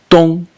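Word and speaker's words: 東: character actually is is the character which is pronounced Tong and it means East you might not recognize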